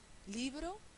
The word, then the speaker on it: libro: Libro, termina en vocal, no lleva tilde, es llana.